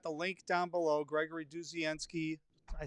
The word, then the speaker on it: Dudzienski: So we should talk a little bit about, okay, so everybody should go over, and I've got the link down below, Gregory Dudzienski.